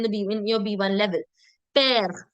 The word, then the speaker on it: père: Père, mère, frère. All of them have an accent grave on the letter E, which makes the sound air. So père, mère, frère.